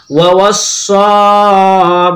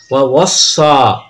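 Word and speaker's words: وَوَصَّىٰ: ওয়াওয়াসসা, ওয়া জবর ওয়া, ওয়া সজর ওয়াস, ওয়াওয়াসসাত খারা জবর স, ওয়াওয়াসসা। এখানে ইয়া আমরা উচ্চারণ নিব না, কারণ ইয়ার উপরে কোনো হরফ জের জবর পেশ সাকিন কিছু নেই, সেই জন্য আমরা ইয়া উচ্চারণ নিব না।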